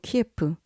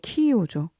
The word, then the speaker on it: 키이우: 지금은 러시아와 전쟁 중인 우크라이나의 수도 키예프, 아니 우크라이나 발음으로 키이우죠.